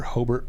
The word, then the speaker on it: Hobart: the cities there are hobart or hobart the locals say um terre haute and